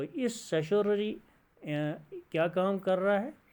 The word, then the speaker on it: certiorari: अगर हम इस तरह ले लेंगे कि सेटोररी ये ठीक नहीं है बल्कि सेशोररी रिट हम इसको पढ़ेंगे. फर्स्ट हाउ टू प्रोनाउंस इसको हम सीखेंगे, यानी सेशोररी.